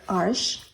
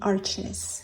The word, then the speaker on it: Arches: These are mostly arches or arche. I don't know how to pronounce it. It's French. It's probably arche, but the English-speaking world would say arches.